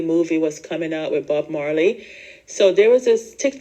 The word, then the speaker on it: Bob Marley: the whole Marley movie was coming out with Bob Marley so there was this Tik tocker and he was pronouncing it says oh the name like oh yes it's Bob marlay Bob marlay ises everyone gonna see the Bob